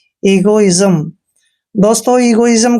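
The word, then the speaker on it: egoism: बोलते clear next है ई जी ओ आई एस एम ई का उच्चारण यहां पर ई करेंगे और जी को ग पढ़ना है ओ को की मात्रा पढ़ते हैं आई को ई की मात्रा पढ़ेंगे जब भी एस से पहले आई आता है तो एस का उच्चारण आधा ज करेंगे और एम को मैं पढ़ेंगे इगो इजम दोस्तों इगो इजम का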